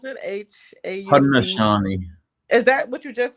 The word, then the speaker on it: Haudenosaunee: I was looking into the history of Central New York and the indigenous people, and it's Haudenosaunee. Is that how you pronounce it? Haud. Haudenosaunee.